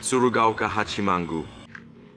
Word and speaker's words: Tsurugaoka Hachimangu: I already forgot the name because I don't have the right pronunciation. What is the name of the temple, please? Tsurugaoka Hachimangu.